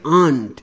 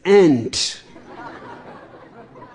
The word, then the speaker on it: aunt: Vivek goes on telling me every day, "Don't say aunt, it is ant."